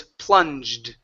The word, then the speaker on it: plunged: Give me the D sound at the end. Plunged into. Plunged into total darkness. Okay. Plunged into total darkness. Okay. So here, this is an ed ending.